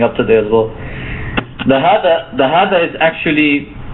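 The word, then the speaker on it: هذا: So proper pronunciation is important in Arabic. So when we say this is, we have to say hada. So hada.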